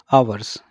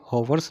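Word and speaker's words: hours: आवर्स, इसको, इसकी correct pronunciation क्या होगी, आवर्स, क्या बोलेंगे, आवर्स, ठीक है, हॉवर्स नहीं बोलेंगे, इट इज़ आवर्स, घंटे।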